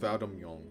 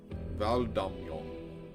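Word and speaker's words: Valdamjong: It's pronounced Valdamyong. Valdamyong.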